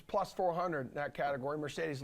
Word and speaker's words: Mercedes: Mercedes loved that word because there's 3 E's pronounced differently.